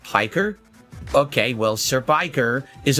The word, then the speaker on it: Piker: Anyway, let's get into this June the King documentary on Hassan Pecker. I've always been interested in how you become a commie jock. He's a lolcow in his own right. It's pronounced Piker?